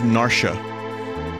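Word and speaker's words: Narshe: it was quick pretty sure narsh is narsha narsha but it's spelled n-a-r-s-h-e that would be narshi tutorials always open that's like marsh you know you don't say marshy yeah lock is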